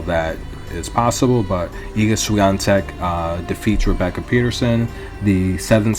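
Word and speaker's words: Świątek: lot of tennis and depending on the announcer they're always guaranteed to pronounce eaga's last name differently so um from from my watching of so many hours of tennis i've come to pronounce your name as ika suyantek that's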